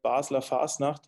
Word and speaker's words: Basel: the carnival of Basel in German it's called basa uh which which is